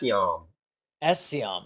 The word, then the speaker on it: Essiembre: say your last name Eon seam okay so so I don't pronounce the b and you know what